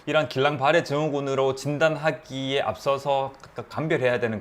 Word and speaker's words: 길랑바레: 대표적인 게 바로 이 길랑바레 증후군입니다. 프랑스 신경학자가 이름을 붙인 질환이어 가지고요. 그래서 영어로는 발음이 다른데 우리나라에서는 길랑바레라고 이렇게 네, 번역을 하고 있더라고요.